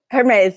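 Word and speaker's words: Hermès: to say it wrong because I'm so bad, Hermes. Hermes, yeah.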